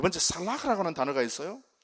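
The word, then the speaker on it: סלח: 첫 번째는 역청을 발라가지고 죄의 영향력이라든지 죽음의 물길이 넘치지 못하도록, 넘어오지 못하도록 막는 것이고, 그게 카파르고, 두 번째 살라흐라고 하는 단어가 있어요.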